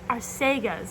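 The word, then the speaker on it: Arsaga's: And I walked into like this Arsagas, and I was like, Arsagas is how it's pronounced, which is so embarrassing because I've been mispronouncing it so much to so many people who did correct me.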